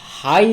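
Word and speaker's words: high: না উচ্চারণ হবে না ইংরেজি শব্দে যদি একটি কি আসে না ভাওয়েলের পরে জি এইচ আসে দেখো উদাহরণ হাই দেওয়া আছে হাই বানান কি এইচ আই জি এইচ হাই হাই মানে হচ্ছে উচ্চ উঁচু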